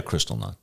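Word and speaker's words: Kristallnacht: those who opposed them now Seattle's had its Crystal knocked is that the proper way to say it yeah Crystal not yeah and the pictures of what occurred during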